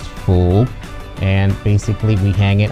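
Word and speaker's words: 福: In Chinese, it's pronounced fu.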